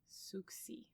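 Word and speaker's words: Souxie: It's basically pronounced Susie, but it's Soxie. Suxi. It's French.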